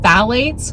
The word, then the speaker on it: phthalate: Those things, along with phthalates, which is actually, it's spelled, I think it's PHTH or something like that. PTH, is it PTH? Yeah. phthalate is how you pronounce it.